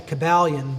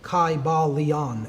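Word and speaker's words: Kybalion: would have been pronounced in the ancient Greek language in which there was no like short y sounds you know it would have been a long I sound Kai Bal Leon and every syllable would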